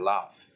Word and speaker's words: laugh: And you got the words like, for example, look at the verb laugh. It's spelled Laugh, right? But the final sound is an F.